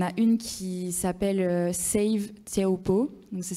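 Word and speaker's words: Teahupo'o: Il y en a une qui s'appelle Save Tiaopo. Donc, ça s'écrit SAVETEAHUP2O.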